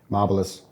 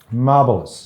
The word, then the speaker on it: Marbilus: having you now your surname how do you pronounce it marvelous marvelous mm and I understand your heritage goes back